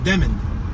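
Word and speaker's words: Demmond: It is Demond? D-E-M-M-O-N-D. Demond. I mean, I see root word demon with a D at the end, you know what I mean? Demond.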